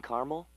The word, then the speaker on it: caramel: The caramel, please. The what? I'd like it in caramel.